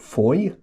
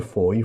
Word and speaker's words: Fowey: Uh we got to a place called Foy, um pronounced Foy, but spelled Foye.